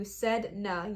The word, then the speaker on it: Sedna: Sedna. Yep, I'm pronouncing that right.